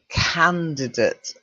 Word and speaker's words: candidate: Okay, so we'll start with number one, which is, I know you think date, but it's not, it's candidate. Okay. So although we say date, It's pronounced candidate, okay?